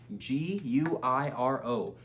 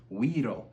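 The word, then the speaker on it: güiro: This week, one of our instruments that we went over is the Guiro, G-U-I-R-O, Guiro. Said you pronounce like we row instead of you row a boat. We row a boat, but Guiro.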